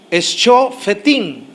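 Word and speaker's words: שופטים: De hecho, la palabra para juez en el hebreo es la palabra griega Shofetim. Se escribe con S, C, H-O, Sho, F-E-T-I-M, Fetim, Shofetim, que significa juzgar, vindicar, castigar y gobernar.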